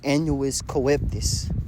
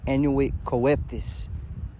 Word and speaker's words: annuit coeptis: They annuis coeptis, right? If I'm saying it right, right? Annuit coeptis, okay? Annuit coeptis.